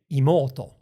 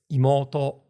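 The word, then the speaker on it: 妹: 15 20 years and still say imoto orto even though this is incorrect. It's imoto but but then when the particle attaches it's orto like the particle attaches low again those words in isolation they're completely flat but then when a particle attaches the pitch starts low it rises all the way up until the final to and then it drops in with the attaching particle.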